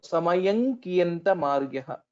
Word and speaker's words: समयं कियन्तमार्यः: So the anuswara here will change or will get transformed into the fifth letter of kavarga, which is nga, ka, kha, ga, gha, nga. So samayam kiyantamaryaha. That is how we will have to pronounce.